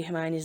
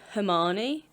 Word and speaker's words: Hermione: And I'm like, oh, it's Hermione. And they're like, oh, that's unusual. And they try and pronounce it back to me, and it sounds like they're saying Hermione. And I'm like, how are you getting that from Hermione?